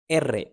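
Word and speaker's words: erre: या यू और आई के साथ आता है एरे एरे आर को कहते हैं रेगा लो डबले एर डबल आर डबले एर पेरो एसे एस को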